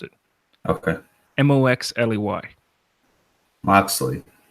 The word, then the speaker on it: Moxley: out something and you tell me how to pronounce it okay mo x le Y obviously not Mosely set mo X right yeah but X could